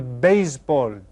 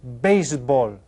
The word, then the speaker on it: béisbol: El béisbol. El béisbol. Yeah. Just try to say that with a Spanish accent.